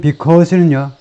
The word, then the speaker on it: because: 이건 because는 이렇게 되죠. because, 뭐 그 발음기호 표시 방법은 여러 가지지만, 이게요 1.5박자라고 말합니다. 1.5박자. 왜냐하면 액센트가 두 번째 음절이 있잖아요. 그러면 이제 한 박자고요. 앞에는요 반박자입니다. 액센트가 없기 때문에. 그래서 이렇게 표시해요.